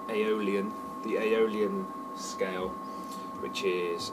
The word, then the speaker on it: Aeolian: influence with the other one is the things pronounced Aeolian the Aeolian scale which is is a bit